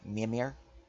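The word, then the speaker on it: Mímir: or Norse words so so an easier pronunciation of the word is me Amir but I'll still type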